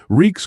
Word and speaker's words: Reek: Reek's clothes. I'm Reek. It rhymes with peak.